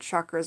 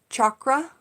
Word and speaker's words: chakra: people to know something so you can pronounce it chakra or you can pronounce it chakra chakra chakra then whenever I